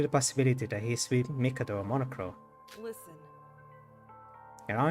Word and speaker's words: Mikado: I keep switching between saying Mikado, that is the right way to pronounce his name, to Mikado, that is the way that is stuck in my head.